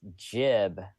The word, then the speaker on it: gib: Did you find what the word gib means? Oh yes, yep. It's pronounced jib.